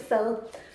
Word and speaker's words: fad: Now, oksekød i fyld means okse is beef, and fyld or fad, you pronounce it fyld, oksekød i fyld means a dish.